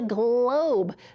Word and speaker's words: globe: With the silent E. We have to have the E there for the O to say O.